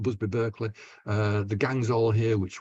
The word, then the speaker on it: Berkeley: And Busby Berkeley, of course, or Berkeley, I should say, Busby Berkeley, the American pronunciation, did a lot of